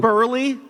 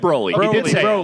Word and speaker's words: Broly: you say Burly? No, he said Broly.